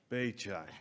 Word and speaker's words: Beqaj: Patel, and Dr. Beqaj, although it doesn't look like it's spelled that way.